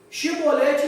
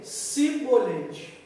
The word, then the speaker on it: chibolete: Quando esse povo ia falar chibolete, ele não conseguia falar. Falava o quê? Cibolete. Ele não conseguia falar o chi.